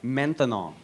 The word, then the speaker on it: maintenant: That's right, maintenant. Maintenant. 3 syllables.